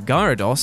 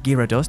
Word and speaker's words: Gyarados: does obviously turn into the very useful gyarados or gyro does depending on how you want to pronounce it but still it is